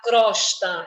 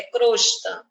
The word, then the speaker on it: crosta: rezes algis alges crosta Olha só tendência de falar crosta é crosta bodas aqui o molho